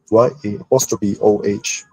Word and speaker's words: Yao: His name is pronounced Yao, but to write in another way is to spell it as Y-A-O-H, still read Yao.